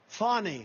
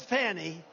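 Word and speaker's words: Fani: It's spelled Fanny. It's spelled Fanny like your ass, right? Perry, but when she became DA, she decided to add a little French, a little fancy. Fonnie, Fonnie, and you know, Fawnie and Mr.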